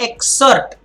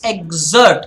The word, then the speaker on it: exert: this the Z sound it's not exert its exert the Z sound okay so she of